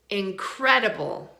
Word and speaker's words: incredible: Which syllable is stressed in incredible? The second one, right? Incredible. Incredible. So we stress the second one, and so it sounds like its normal self. It sounds like a short vowel.